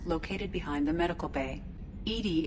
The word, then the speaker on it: EDI: ED is the phonetic pronunciation of EDI.